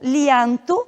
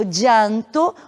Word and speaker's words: llanto: Uma palavra como essa que aparece, eu posso pronunciá-la como lianto, na variante ibérica do espanhol da Espanha. Eu posso pronunciá-la como llanto ou como chanto. Então ela tem várias possibilidades de pronúncia. Llanto, llanto, chanto.